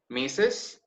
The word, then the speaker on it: Mrs: these three okay missus remember this one's pronounced missus Miss and Miss once again missus miss